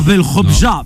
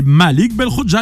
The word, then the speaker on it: Belkhodja: Non, pas Belkhobja, Belkhobja.